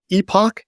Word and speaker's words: Epoch: One, there's an AI research group that studies trends in AI called EPOCH. It's spelled like Epic, EPOCH.